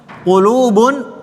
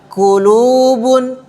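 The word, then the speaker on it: قلوب: Qlubun. Perhatikan huruf qf. Huruf qf. tidak sama dengan huruf kaf. Jadi jangan dibaca klubun qulu.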